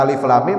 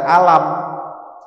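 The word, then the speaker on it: الم: membaca ejaannya jadi baca Alif Lam Mim Jangan dibaca alam ya Ini bukan alam taro bukan alam nasrh Alif Lam Mim itu cara bacanya baca Yasin bukan Yas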